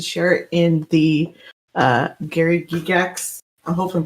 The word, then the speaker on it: Gygax: feel free to share it in the Gary Gygax. I hope I'm pronouncing that right. Gygax. Gygax.